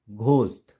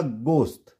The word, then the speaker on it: ghost: जैसे GHOST घोस्ट, नहीं घोस्ट नहीं होगा, गोस्ट। क्या होगा?